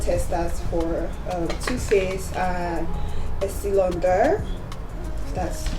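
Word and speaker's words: Estée Lauder: And because I want to change my foundation, I got testers for Too Faced and Estee Lauder. That's how it's pronounced.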